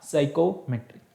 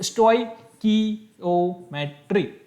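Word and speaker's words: stoichiometry: है बोला जाता है, कोई साइकोमेट्री कोई स्टोकियोमेट्री, है ना, प्रोनाउंसिएशन थोड़ा अजीब सा है, तो स्टोइकियोमेट्री, है ना, इस तरीके से इसे बोलते हैं।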